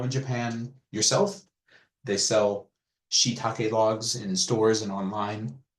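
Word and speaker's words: shiitake: think probably everybody knows you might call it shaki but from now on you're going to call it shake because you know that's how it's said this is len edes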